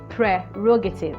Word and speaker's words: prerogative: prerogative or mercy no you're supposed to say prerogative because there is an r before the e so it is p r e prerogative that's how you are actually supposed to pronounce the word that brings me to